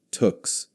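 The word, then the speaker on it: tuque: Woolen hats that Canadians called tux pronounced like tuks that pulled down over the ears and could be rolled up or down depending on how cold it was.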